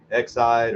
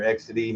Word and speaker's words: Exide: here's one of those uh exide or XD however you want to pronounce it uh sealed demon says it right there Tycho with the part number 9162.